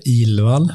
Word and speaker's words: Ilvall: Ilvall. That's a terrible way to pronounce it because it's so hard, and it's even worse in writing.